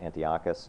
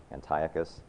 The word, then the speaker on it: Antiochus: the last 20 years, I have heard this and I've pronounced it Antiochus, so I'm going to slip and say it that way. I found out recently it's actually apparently pronounced Antiochus.